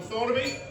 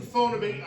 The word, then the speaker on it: Thornaby: I'm from Thornaby. A couple of cheers, that'll do. I'm from the posh end of Thornaby though, because I pronounce the TH.